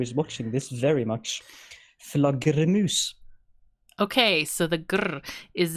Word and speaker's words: flaggermus: So the word is Flaggermus. Flaggermus. All right. No. Flaggermus. Flaggermus. Flagger, not flagger. Flagger.